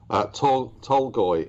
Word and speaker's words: Tolgoi: Tolgoi is the pronunciation.